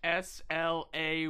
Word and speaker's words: sleigh: It's spelled sleigh like SLAY, like What?